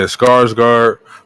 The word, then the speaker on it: Skarsgård: Yeah, Skarsgård.